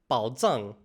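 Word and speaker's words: 宝藏: Ah, but it's actually pronounced here as bǎo zàng.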